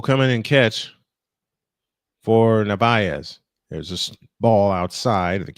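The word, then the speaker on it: Narváez: Masataka Yoshida will bat for Navarez. I said it wrong. Nvaz. Navayz.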